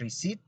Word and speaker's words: receipt: in this case is the letter p is silent in words such as receipt course cabord psychology and